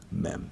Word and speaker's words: Mem: The letter Mem is the only letter that, in order to pronounce it, you have to open your mouth and close it. Mem.